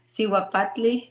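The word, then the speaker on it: Cihuapatli: Yeah, so the name of the practice that I chose is Siwapatli Matriarch Council, Siwapatli Midwifery. Siwapatli is Nahuatl, which is our language from Mexico, and it translates to Siwa means woman, Patli is medicine or plants.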